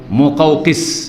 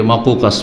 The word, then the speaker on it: মোকাউকিস: তো ইস্কান্দারিয়া এলাকার রাজার উপাধি হয়তো মোকাউকিস। কি শুদ্ধ উচ্চারণ হচ্ছে? মোকাউকিস। এটাকে অনেকে ভুল পড়ে, কারণ শব্দটা একটু কঠিন উচ্চারণের দিক থেকে, অনেকে মাকুকাস পড়ে, ভুল পড়ে।